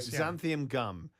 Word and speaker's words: xanthan gum: All right, xanthium gum. That's the one you're going to see it in a lot. It's spelled with an X.